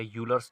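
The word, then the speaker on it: Euler: तो इसके लिए हमारे पास एक आता है क्या, आइलर थ्योरम या यूलर्स थ्योरम, बहुत सारे लोग यूलर्स कहते हैं, बहुत सारे लोग आइलर कहते हैं, तो कोई कुछ भी कहे लेकिन स्पेलिंग सही होनी चाहिए।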